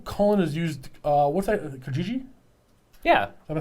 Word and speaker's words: Kijiji: I know Colin has used, what's that, Kijiji? Yeah. Am I saying it right? Yeah. Kijiji.